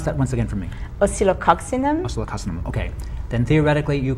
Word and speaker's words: Oscillococcinum: And I take the oscillococcinum. 1 dose. Pronounce that once again for me. Oscillococcinum.